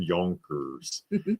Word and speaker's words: Yonkers: You got to say it right. No, he's from Yoners. He's from Yonkers.